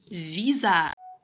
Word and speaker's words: visage: Maintenant qu'on a bien retenu que le S, lorsqu'il est placé entre deux voyelles, est prononcé Z, passons à la lecture de quelques mots. Un visage.